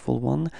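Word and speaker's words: aux: is o OK so Even if it's ending with X you don't pronounce it Ok it's o Al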